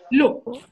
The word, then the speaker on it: l'eau: Like I told you earlier, whenever you have an L and an apostrophe, you will tend to pronounce that as one word.